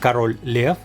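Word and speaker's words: Король Лев: title is written here in Russian in it's pronounced Carol Lea as you can see from the cava it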